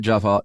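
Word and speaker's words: Geof: Yeah, I but you have to say it like Joff. If you're gonna go to the trouble of spelling Jeff like Joff, you should say Joff.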